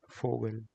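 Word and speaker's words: Vogel: English uhar clock and V is pronounced as F in English in sorry German so we has the sound of f so we will call it fogal fogal which stands for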